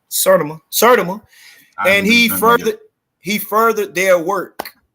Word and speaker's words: Sertima: How you pronounce his name? Sertima.